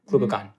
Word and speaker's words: glucagon: insulin or glucagon am I saying it right glucon glucagon glucagon thank you this drug is a glp1 Agonist